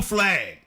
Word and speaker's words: Flagg: Last name rhymes with Flagg. That is his last name. Got 2 G's though. Cooper Flagg.